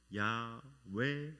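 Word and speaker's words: יהוה: 그런데 여호와라는 그런 그 단어 우리나라 말로 그렇게 표현이 돼 있는데 원래는 그 히브리어 있는 그대로 이렇게 발음을 하자면은 야외 하나님이십니다.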